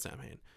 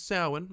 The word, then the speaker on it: Samhain: And he called it Samhain. But it's Samhain, and they get that correct in this one.